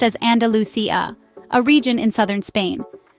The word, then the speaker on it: Andalusia: The dance emerged as a form of expression for the marginalized communities in Andalusia, pronounced as Andalusia, a region in southern Spain.